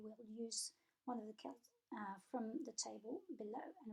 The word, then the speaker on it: quel: use one of the quels from the table below. And remember, it's pronounced the same way, quel, however it's spelled.